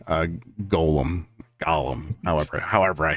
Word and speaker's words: Gollum: the Eagles have names it's not pronounced Golem it's pronounced Golem lads I don't blame